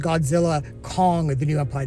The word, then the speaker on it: Godzilla x Kong: I think it's actually pronounced Godzilla Kong, The New Empire. The X is silent, or at least that's what I read.